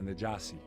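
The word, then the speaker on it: النجاشي: In Arabic, it's pronounced the Najasi.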